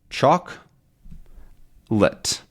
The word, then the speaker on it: chocolate: spell things right because in actual pronunciation we say chocolate Chate which is two syllables chalk lit which sort of looks